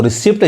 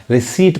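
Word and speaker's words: receipt: और यहाँ देखिए, इसको रिसिप्ट जैसे कहेंगे गलत हो जाएगा उच्चारण इसका, यानी ये पी नहीं पढ़ाएगा, रिसीट पढ़ाएगा।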